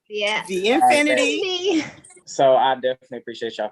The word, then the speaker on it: VNfiniti: VNfiniti.